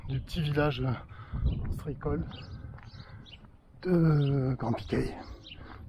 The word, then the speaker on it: Grand Piquey: Voilà, c'était la visite du petit village ostréicole de Grand Piquet. Toujours Grand Piquet, hein, le Hey, hein, comme je vous l'ai dit tout à l'heure pour Petit Piquet. Ne vous trompez pas dans la prononciation.